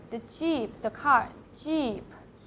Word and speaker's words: xī: We'll say like C, C.